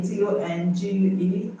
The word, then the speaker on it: tongue: I hope you know that the O in tongue is pronounced A, like the inverted V, okay? Let me just mention it now. So it's tongue, tongue, not tongue, tongue.